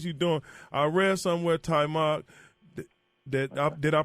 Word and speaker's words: Taimak: I read somewhere, Taimak, did I pronounce it right? Yeah, no, Taimak.